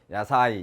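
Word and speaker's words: 野菜: 야채. 야사이 이렇게 발음합니다만 야채.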